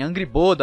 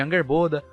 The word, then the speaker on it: Angrboda: Ela só tem um problema com as pronúncias de alguns nomes, tipo falarem Angrboda ao invés de Angerboda, ou Turd ao invés de Trude.